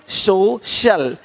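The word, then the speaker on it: social: अब देखो, यदि सी के आगे आई ए हो तो सी का उच्चारण श होता है। क्या होता है? श होता है। क्या लिखा हमने? सोशल, सोशल, सोशल।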